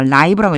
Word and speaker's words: live: 요거요 제가 live라고 읽었죠. 살아 있는 이런 뜻이에요. 살다라는 뜻도 있지만 살아 있는이라고 하는 뜻이에요. 여기서 그래서 라이브라고 읽어 주셔야 돼요.